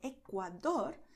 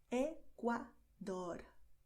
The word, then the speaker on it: Ecuador: You see, by Ecuador, the tongue does D with a lot of contact and slowly, and then does dor. This R at the end is really quicker, okay? Ecuador.